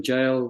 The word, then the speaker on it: gaol: I and I always thought when uh when jail was because I knew that thing the jail